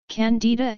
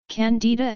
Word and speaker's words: Candida: candidiasis in American English Candida is also pronounced differently in American English the stress is on the eye whereas in British English the stress is on the first syllable the genus Candida and